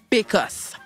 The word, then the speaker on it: bécosse: qui servait de toilettes puis back house qu'on le prononce avec l'accent d'ici ça donne PKS c'est un petit boss